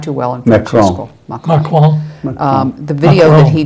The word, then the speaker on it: Macron: Marchand. I did not do well in French school. Macron.